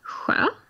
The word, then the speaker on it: sjö: Another one is sjö.